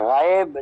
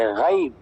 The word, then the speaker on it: غیب: غیب کا لفظ تھا اسی طرح غائب نہیں پڑھنا چاہیے بلکہ غیب، بالغیب۔ غیب پڑھنا عربی تلفظ نہیں بلکہ غیب پڑھنا چاہیے، اور لا ریب، ریب